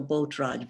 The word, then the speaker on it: Botragy: But basically the population was Hungarian speaking, so Botraj was the correct way to say it mostly.